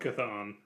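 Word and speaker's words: Chthon: this character's name Bob kathon kathon okay wow the CH oh okay yeah that makes sense kathon appear as a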